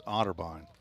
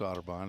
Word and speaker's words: Otterbein: Ohio I believe I want to say it's Otterbein they're writing its Audubon is DJ Qualls says yes hello to Gavin